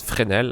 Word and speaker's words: Fresnel: Uh the S is silent, by the way. We don't say a fnel. Uh it's frenel actually. Uh frenel is a um is